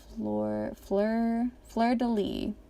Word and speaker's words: fleur-de-lis: of fleur-de-lis, I took French in high school, fleur-de-lis, I think is how you pronounce it.